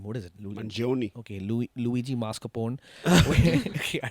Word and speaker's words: Mangione: I can't even pronounce his last name. What is it? Mangione.